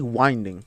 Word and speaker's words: winding: So I've been pronouncing it wrong. It's actually winding. It's the winding way. But because it's like it has wind in it, so I thought it was like English is confusing.